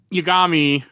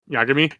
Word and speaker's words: Yagami: He made a good move at the end, but he's not Light Yagami. I'm saying it wrong, aren't I? Yeah. Yagami.